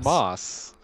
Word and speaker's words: FAMAS: it is famous it that's how you say it Famas Famas Famas Famas yeah